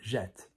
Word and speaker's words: jette: But when you conjugate it and go into the short form, you say jette, je jette.